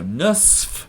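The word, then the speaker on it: نصف: would say in English almost nobody will pronounce the fa on the end of this word they'll always say in fact I had to kind of articulate it there to remember to say it because everyone will say sa because it's just so much easier than so watch out you write it differently than you actually pronounce it so seven and a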